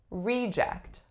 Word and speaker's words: reject: I reject that idea as a noun we would say reject reject so the strong is syllable of course is the first the second syllable remains